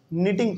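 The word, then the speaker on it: knitting: आ रही है बात इसमें के जो है ना साइलेंट रहता है इसको हम लोग कनिटिंग नहीं बल्कि टिंग पढ़ते हैं ठीक है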